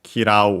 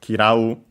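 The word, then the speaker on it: 嫌う: Last but not least, we have the verb kirau, to dislike, to hate. Should be unaccented.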